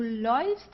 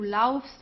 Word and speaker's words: läufst: So ich laufe, du läufst, sie, es läuft. Okay, so we don't say du laufst oder sie, es lauft, it's läufst. Okay, let's try to pronounce it.